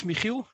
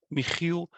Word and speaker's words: Michiel: So my name is Michiel, and that's a Dutch name. And because I know pronouncing the Dutch G, the G in Michiel, it can be hard to do.